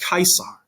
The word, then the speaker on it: Caesar: name caesar in english in latin it's pronounced kaisar right which is why